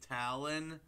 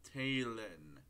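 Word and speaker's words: Talynn: I know some of you guys are probably mistaking her name for Talon, but it's pronounced Taylin.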